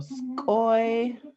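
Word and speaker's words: sk'ʷuy: So skoy, skoy. And a way to remember that, it rhymes with boy.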